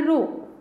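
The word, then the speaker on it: ρ: इसको बोलते, प्रोनाउंस तो कर रहे हैं रो, प्रोनाउंस तो करेंगे इसको रो।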